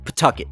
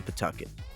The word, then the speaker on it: Pawtucket: Pawtucket is the city's name. If you say it right, it sounds like you're spitting chewing tobacco.